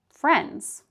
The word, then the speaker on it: friends: So again, when we have 3 consonant sounds in a row and the middle one is a D, we don't pronounce the D. So take a look at the word friends. Friends.